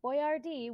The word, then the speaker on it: Boyardee: pronounce Italian correctly so he had to write it out phonetically how to pronounce Boyer thee boy d chef boyardee was written out because dumb